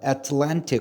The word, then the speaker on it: Atlantic: 자, 근데 원래 발음은 Atlantic이야. 근데 우리는 어느 나라식 영어를 하고 있어요? 미국식 영어를 하고 있어요. 미국식 영어에서는 발음을 쉽고 편하게 하기 위해서 T를 때로는 무슨 발음으로 한다? 리을 발음을 하죠. 그래서 미국식 발음은 Atlantic이 아니고 Atlantic. 따라해 볼게요. Atlantic. Atlantic. Atlantic이 아니고 뭐야? Atlantic이라고 발음을 합니다.